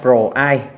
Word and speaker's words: PRO-I: Thì với cái phiên bản Sony Xperia Pro i, mình đọc là i theo nhà sản xuất họ đọc như vậy, thì i trong chữ Xperia Pro i đó là imaging.